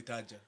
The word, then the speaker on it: Taddja: actual correct pronunciation yeah usually when people see it they have a problem spelling it when they hear it then they find out it's so easy it's simply tajer I see I see